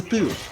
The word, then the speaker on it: Pooh: What I always wondered about, even when I was in first classes of school, Winnie the Pooh. It's like poo, like excrements.